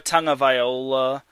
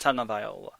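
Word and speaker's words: Tagovailoa: very confident to a Tong of Viola um I think that's how his name is pronounced Tong of Viola Tang tongola I think it's I think it's pronounced Tong of Viola either way the Chargers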